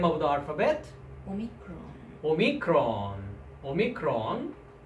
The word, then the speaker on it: omicron: Omicron. Omicron. Omicron. Omicron is O sound, O in English.